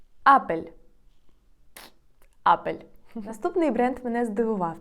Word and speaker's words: Apple: напевно найбільш відомий бренд у світі Apple іспанською вимовляється як апель апель апель наступний бренд мене здивував тому що хоча